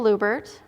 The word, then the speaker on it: Luebbert: out my name is lubert rhymes with goobert by the well you'll